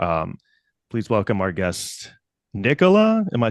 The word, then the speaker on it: Nicola: or why not just Nicole thank you that's a great question my dad is British so in England it's Nicola it's a totally normal